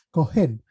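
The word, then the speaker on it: כהן: Lo primero que tenemos que entender es la definición de sacerdote en hebreo que se pronuncia Kohen, que viene siendo como una autoridad principal o jefe o sacerdote.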